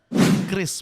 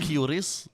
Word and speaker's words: Kris: Bank Indonesia mengeluarkan statement bahwa Kris itu dibacanya Kris bukan Kyris dan bukan Kiris gitu.